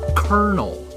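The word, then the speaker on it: colonel: And OLO is obviously pronounced kernel.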